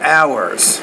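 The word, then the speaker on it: hours: is a word like ours we don't pronounce the H there but in most cases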